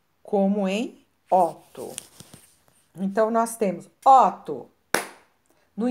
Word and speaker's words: Otto: palavra é um nome Otto vejam bem ó ó eu pronunciei o o aberto ó e ovo Aqui nós temos a palavra ovo esse olho pronuncia ele mais fechado então Otto e ovo